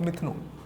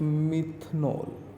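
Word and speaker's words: methanol: Preparation of मिथनॉल या मिथानॉल, जो भी आपको इजी प्रोनाउंसिएशन लगे आप कह सकते हैं।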